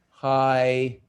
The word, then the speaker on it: hyperbola: Hyperbola. Can you say it? Hyperbola. Can you say it with your hand under your chin so you know how many syllables it has?